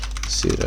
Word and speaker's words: pseudo: be talking about css pseudo elements um what they are and how to use them so pseudo elements actually over p the p is silent but yeah basically they're